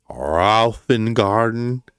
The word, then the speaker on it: Roffengarden: Raufengarden. It's not the hardest word to pronounce. It's and garden. Like, if you remember the old electric company, garden, garden, garden, garden. Raufengarden.